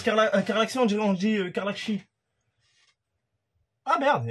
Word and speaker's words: Karlaxy: Ah, quand on prononce Carlaxi, on dit Carlaxi.